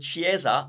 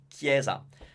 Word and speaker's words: chiesa: speaker will pronounce it chiesa instead of Cieza it's just a matter of remembered a CH is our way of doing K because we don't have K so yes C can